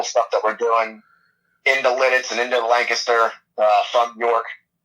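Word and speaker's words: Lititz: I don't really know how to pronounce the name of the town. It's Lidditz? It's Lidditz, yep.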